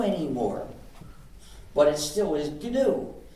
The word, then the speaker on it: GNU: but it still is G so please pronounce it g uh there's however there's